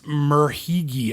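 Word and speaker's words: Merhige: Elias Murhigi.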